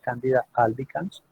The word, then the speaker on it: Candida albicans: Y dentro de las cándidas, la más popular es la Candida albicans, así se pronuncia, Candida albicans.